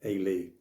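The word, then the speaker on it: Eilidh: dalliance with an enchanting Irish folk singer called a Lee spell e-i-l-i-d-h so I apologies to Irish Hughes I hope I pronounced that right and it turns out that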